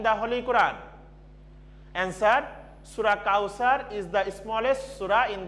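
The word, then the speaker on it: Kauther: students keep attention here kausar is spelling k-a-u-t-h-e-r so it can be uttering kautar but there is the thaa in the arabic word that's why i written t-h-e-r so if i pronounce the arabic so that will be cow cow sir because there is the the letter that's why i written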